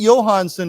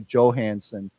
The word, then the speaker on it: Johansson: I think I think Johanson is the way that it you know the J is pronounced as a y but I'm sure many Americans don't know that and they say Johansson um but I think it's